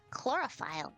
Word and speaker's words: chlorophyll: That's how you pronounce it. Chloroplast and chlorophyll.